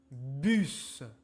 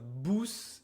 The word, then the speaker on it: bus: OK, donc on a le son I comme dans li, ou comme dans rou, u comme dans bus. Bus. It's not bous, it's bus.